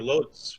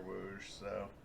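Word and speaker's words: Łódź: and then go through loads we could be able to pronounce by the way i did some research on it uh like floosh yeah like a w yeah oh cool that's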